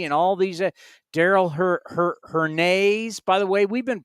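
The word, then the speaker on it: Hernaiz: all these Daryl her her Nays by the way we've been pronouncing it wrong and I remember seeing a video when he was in double A Midland it was her Nays not her knives and even though I've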